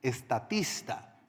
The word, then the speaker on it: Statista: la plataforma en línea estatista. Estatista, sí se escribe y se pronuncia.